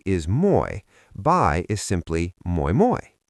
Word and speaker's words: moi moi: If "Hi" is Moi, "Bye" is simply Moi moi. Mnemonic: "Moi moi, I'm off to the boy-boy (buoy) at the beach!"